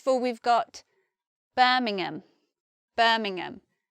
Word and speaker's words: Birmingham: we've got Birmingham Birmingham many people many Americans say Birmingham whereas anyone from England will say Birmingham or someone actually from there would say something like Birmingham but I'm from the South of England I'm from London and we just say Birmingham next we've got Nottingham